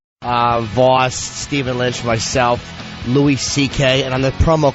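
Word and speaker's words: Louis C.K.: Voss Steven Lynch myself Lou CK and on the promo could they stop pronouncing it Louis it's not Louis I know they say CK he is Lou we can't get anything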